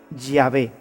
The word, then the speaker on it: Yahvé: De manera que yo soy el que soy, se pronunciaría o se diría Yahvé.